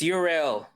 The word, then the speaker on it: Yrel: How do we pronounce this name? Yrel? It's Yrel.